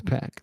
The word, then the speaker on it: PAC: is my specialty okay it's pack the name is pack if you learn anything